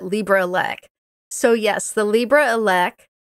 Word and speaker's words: LibreELEC: so I know I I never quite know I pronounce it Libra ELC so yes the Libra